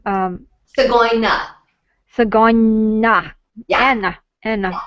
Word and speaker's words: Tsgoyna: I hope I'm not mispronouncing your name. Tsgoyna. Tsgoyna.